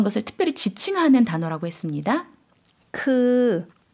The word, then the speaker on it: คือ: คือ 좀 길게 발음해 주시면 되겠죠? 그라고 해주시면 되고요.